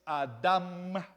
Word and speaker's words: Adam: y cosas así verdad Pero la palabra es Adam con m que se traduce como